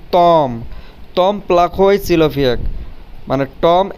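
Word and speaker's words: Том: তখন এটার উচ্চারণ হবে তম, তম। কিন্তু এটাই যখন বাংলাতে বলবো তখন এটার উচ্চারণ হবে টম। ওকে, টম টম। কিন্তু রাশিয়ান ভাষায় উচ্চারণ করতে গেলে এটার উচ্চারণ হবে তম।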